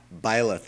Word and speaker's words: Byleth: It's just, I guess to close out my thoughts on, how do you pronounce this name again? Byleth? Byleth, yeah.